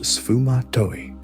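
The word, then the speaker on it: sfumato: Pronounced sufumatoi Italian for smokey.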